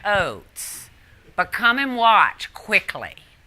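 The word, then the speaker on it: Ochs: pronounce this last name it's o-c-h-s but it sounded like oats but come and watch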